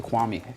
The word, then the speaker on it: Kwame: That's actually the reason why white people learn how to say Kwame, because the first winner was actually named Kwame. Before that, they used to pronounce it Quame.